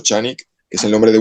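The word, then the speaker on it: Canik: Bueno, Chanik que se escribe Chanik, que es el con C, pero se pronuncia Chanik, que es el nombre de un fabricante de armas y es también ahora tiene servicios.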